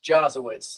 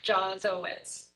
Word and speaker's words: Jawitz: And just so everyone knows, your name's pronounced Jawitz, like Jaws, correct? Correct, like the shark, Jawitz.